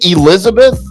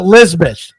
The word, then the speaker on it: Lisbeth: Anyway, are you saying Elizabeth? No, Lisbeth. Lisbeth.